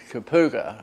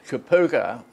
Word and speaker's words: Kapooka: the basic well that was a place called Kapooka edo era waffa waffa could you spell it ok IP double o ka Chi Pookie